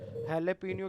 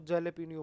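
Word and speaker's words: jalapeño: अगर मैं स्पेनिश बोलता हूँ, ठीक है, तो इसकी जो साउंड है वो क्या है? एच, ठीक है। हेलेपिनियो की स्पेलिंग क्या होती है? हेलेपिनियो ऐसे करके लिखा जाता है, उसमें जे लिखा होता है, हम उसको जेलेपिनियो बोल देते हैं, है ना?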